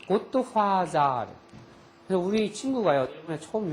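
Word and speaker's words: ゴッドファーザー: 화더가 일본은 th 발음은 사로 발음하게 돼 있어요. 고토화자.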